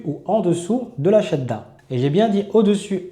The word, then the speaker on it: shadda: Et l'insistance, c'est bien dans le fait qu'on va prononcer deux fois la lettre, une fois sakin, une fois non sakin, et pas dans le fait d'appuyer sur la lettre, comme on peut l'entendre des fois chez des débutants, qui disent shadda.